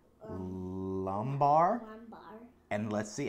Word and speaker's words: lumbar: Low back rhymes with, or sounds like... Lumbar.